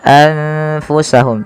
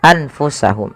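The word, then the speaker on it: أَنفُسَهُمْ: Dan di sini ada nun sukunnya bertemu dengan huruf fa, maka nunnya disamarkan kepada huruf fa. Maka menjadi anfusahum tidak lagi dengan jelas suara nunnya anfusahum tapi samarkan ke huruf fa.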